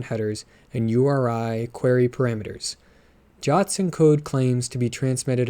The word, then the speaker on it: JWT: Jots are always represented using the JWS compact serialization or the JWE compact serialization. The suggested pronunciation of JWT is the same as the English word Jot, and that's what I'm going to be doing.